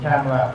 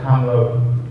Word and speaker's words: Kamala: But what I tell people, I said Kamala Harris, right? Kamala, say it like Kamala.